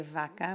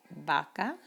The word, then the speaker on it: vaca: We don't say vaca, we say vaca, and uvas verdes. So the V sounds like the letter B in Spanish, vamos.